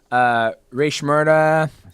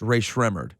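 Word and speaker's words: Rae Sremmurd: Drake, Meek Mill, Ray Shmurda. Ray Shmurda. Do you know it's pronounced Ray? Has anyone told you since then it's Ray Shremmerd?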